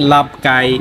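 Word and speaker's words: ลาบไก่: এটা হচ্ছে ডাক এর সালাদ টাইপের, ওটাকে বলে লাপ্পেট, আচ্ছা মানে লাভ কাই, চিকেন হলে লাভ কাই। গাই। হ্যাঁ লাভ ওই আচ্ছা ইংলিশে গাই লেখে বাট ওরা কে উচ্চারণ করে আর কি, লাভ কাই লাভ পেট।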